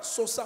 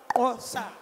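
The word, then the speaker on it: Xhosa: On ne dit pas sosa, on dit ça. Ça. Un, ça. Non, faut dire d'abord comment on appelle leur pays? Un, Kosa.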